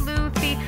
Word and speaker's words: Luffy: The One Reborn, Sad Daddy, Cats 2019, it's pronounced Luffy, Bunny Train, Newsday, what else do I have to say?